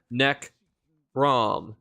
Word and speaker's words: Necrom: funny is is that they actually spell out how to say the specific words like it says neck ROM like there that was